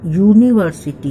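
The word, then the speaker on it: university: ये भले ही वॉवेल से शुरू हुआ है ये सभी का स्पेलिंग, लेकिन उच्चारण कॉन्सोनेंट से होता है, यू से नहीं होता। यूनिवर्सिटी यह शब्द से होता है, तो यह कॉन्सोनेंट है।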